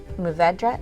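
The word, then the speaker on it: Mourvèdre: usually so this is 72 percent syrah 16 muvedra is how you say it yep and then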